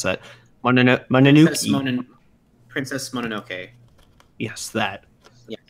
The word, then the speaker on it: Mononoke: It does, but Shutter said Princess Mononella. I can't pronounce that. Mononoke.